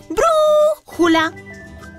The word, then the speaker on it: brújula: final algunos ejemplos de palabras estrujulas son brújula brújula o brócoli brócoli o también búfalo Búfalo también